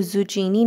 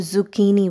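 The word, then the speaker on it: zucchini: और आप इसकी स्पेलिंग भी देखें तो ज़ुचीनी नहीं बोलना है, इसको ज़ुकीनी बोलना है, ज़ुकीनी।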